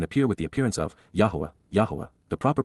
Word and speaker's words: Yahowah: to face and appear with the appearance of, Yahowah, the proper pronunciation of the name of Eloah, God as directed in his Torah, teaching regarding his Haya.